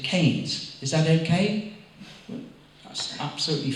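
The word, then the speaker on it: Keynes: But I said, she said, I know it's spelled Kings, K E Y N E S, but here in the village, we prefer to pronounce it Kes.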